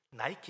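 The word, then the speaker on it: Nike: 그래서 니케가, 여러분들 막 니케 여신을 신고 있는 분들이 많을 거예요. 나이키 신, 나이키가 니케입니다. 니케 영어 발음 나이키인데, 그 승리의 신발을 신고 운동에서 승리하라고 나이키 신발이 나온 거예요.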